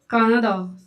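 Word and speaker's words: カナダ: जैसे कि इसको अपन इंग्लिश में क्या पढ़ेंगे? कनाडा। कनाडा। इसको क्या रीड करते हैं? कनाडा। बट जैपनीज़ में इसको क्या रीड करते हैं? कान्हादा कान्हादा कान्हादा जैपनीज़ में क्या रीड करेंगे?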